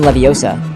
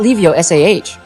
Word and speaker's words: Leviosa: In Charm's class, she smuggly told him, "It's Levi Osa, not Leo Sah."